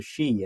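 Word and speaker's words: sídhe: Mounds which are called the shei in Irish that's spelled s d h e She this also Associates them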